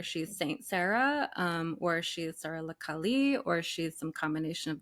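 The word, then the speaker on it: Sara la Kali: Sarah Lakali? Is that how you pronounce it?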